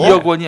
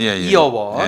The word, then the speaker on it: 이어원: 2억 원이 아니라 이어원. 발음을 이어원.